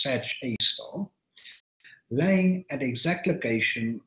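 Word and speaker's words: Sagittarius A*: a abbreviated or a and usually pronounced search a star laying at the exact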